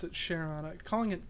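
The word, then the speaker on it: Charon: And yeah, I pronounce it Cheron. Calling it Kon or some whatever other way people say it sounds weird, you know. It's like Cheyenne, not Cayenne.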